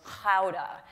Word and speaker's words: Gouda: And the proper pronunciation is Gouda."